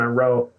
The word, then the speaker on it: Rho: Roe. Think of a deer.